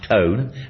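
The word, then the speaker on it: Taung: The cradle of humankind is a large world heritage site covering some dozen fossil sites including something that is pronounced cone but it's spelled T A U N G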